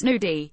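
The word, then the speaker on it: gnudi: The nudie pronounced nudie.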